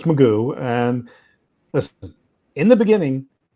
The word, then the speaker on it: McGough: So Magoo, as you said, it's spelled McGough, but it's Magoo.